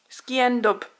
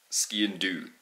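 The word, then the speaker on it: sgian-dubh: Ski and dub. You're close. Ski and do.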